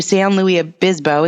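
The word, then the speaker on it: San Luis Obispo: people should come I've actually never been to S Louis AB bisbo is how you say it's a cool name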